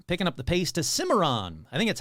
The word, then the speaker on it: Cimarron: Picking up the pace to Cimarron. I think that's how you pronounce it. Cimarron, New Mexico.